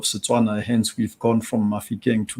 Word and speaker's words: Mafikeng: Mafikeng is typically associated with pronunciation that my tribe would use. So Mafikeng would be pronounced by the Bafokeng.